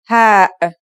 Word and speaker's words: ه: Let's start with our first letter, ha. This letter sounds just like the English H, and it should be very easy to pronounce.